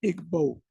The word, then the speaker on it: Igbo: it it doesn't suggestion I believe it's pronounced IBO not Igbo for example the reason